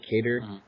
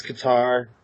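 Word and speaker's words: Kattar: Amy's gonna be fighting Calvin cake cater I guess that's how you pronounce it cater you it's guitar okay I'm gonna keep clonic it's hard and told Calvin guitar finds me out and told me to say differently that's better and then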